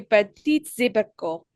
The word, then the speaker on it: petits abricots: J'adore ces petits abricots.